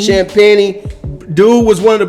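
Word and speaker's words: Champagnie: who I like uh was is it Julian champagne or something like that they pronounced it shamp Penny shamp peny dude was one of the best players in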